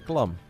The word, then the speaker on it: Clem: so often that I don't even know how to say clam anymore like it's Clum right it's like no what Clum I'm pretty certain it's Clum it's like Siri tell